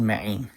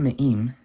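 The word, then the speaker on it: מים: Listen to how I said ma'im, not me'im, ma'im.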